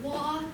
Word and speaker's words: Waugh: I am Representative Waugh. That is spelled once again just like laugh, but instead of an L and a W, and pronounced slightly differently.